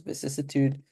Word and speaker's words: vicissitude: So there's another syllable here. So it's vicissitude, adumbrate, and sang-froid.